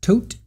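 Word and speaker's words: Todt: Oh, it's pronounced tote.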